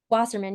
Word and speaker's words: Wasserman: The next, you also were a brand and properties intern for, see if I pronounce it right, Wasserman or Wasserman? Wasserman, yeah.